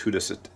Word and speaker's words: Judas: Epistle of St Jude we don't say the Epistle of St Judas in English like they do in Spanish in Spanish it's hudas hudas ttio uh but here